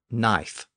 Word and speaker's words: knife: and and so on the K was originally pronounced so those words originally began with a KN sound and the K in